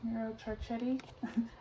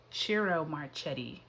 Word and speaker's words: Ciro Marchetti: card that the author what's his name? Miro Marchetti? I always get his name wrong. What is it? Ciro Marchetti.